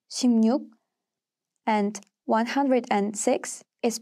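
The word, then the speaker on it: 십육: the rules of assimilation luke becomes nuke after consonants except for rior so 16 is pronounced as shimnuk and 106 is pronounced as pengnu 30.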